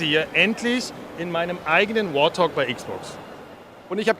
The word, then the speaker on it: Warthog: Und ein Traum mit war, ich sitze hier endlich in meinem eigenen Warthog bei Xbox. Und ich habe gelernt, das heißt Warthog und nicht Warthog. Ich habe das jahrelang falsch ausgesprochen.